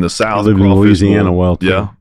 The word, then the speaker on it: Louisiana: And so in Texas and in the South, I live in Louisiana, bull, well, too. Yeah. And so it's actually Louisiana. That's right. And it's just no syllables there, or very few, excuse me.